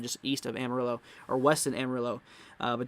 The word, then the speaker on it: Amarillo: wanna i pronounce it amarillo i heard i heard people say armarillo but i don't think it's it's not armored it's amarillo um at least from